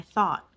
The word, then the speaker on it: thought: thought or naturally I thought thought it kind of dropped the T sound at the end thought I thought you